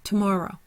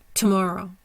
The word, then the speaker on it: tomorrow: have two more row primary stresses on the more secondary stress is on the row our schah is in the two so it's tomorrow tomorrow ambitious ambitious we underline